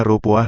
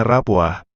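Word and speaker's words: ربوة: Ada yang membacanya Ripwah dengan memakai huruf ra yang dikasrohkan, menurut suatu pendapat hal ini merupakan kiraat Ibnu Abbas.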